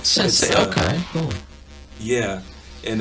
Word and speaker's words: Sense8: Right now I'm knocking out a show on Netflix called Sense8. It's really good. What was it called? Sense8. Sense8. So Sense8. SENSATE. Sense8. But it's spelled it's spelled sense like senses and the number 8.